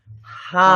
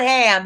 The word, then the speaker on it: hum: Okay, your seed sound for this one is hum. Not ham, because it's spelled H-A-M.